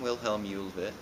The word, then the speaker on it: William Huvet: hello I'm willhelm ulit I'm in the 10th grade and that's how my name is pronounced and no one knows